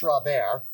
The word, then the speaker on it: sauce Robert: spelled like Robert, but it's sauce Robert.